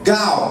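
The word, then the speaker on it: gaal: Now that one is, I want to say Gal, is G-A-A-L, and when you look, the way to pronounce it is G-A-W-A-L.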